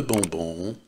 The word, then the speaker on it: bonbon: Если буква Н стоит в середине слова и после буквы Н стоит согласная, то буква Н будет произноситься тоже как носовой звук. Le bonbon est bon.